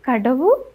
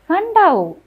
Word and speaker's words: Kadavu: Did you say Kadavu? It is pronounced Kandau.